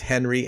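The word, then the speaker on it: Hnry: I believe it's pronounced Henry, H-N-R-Y.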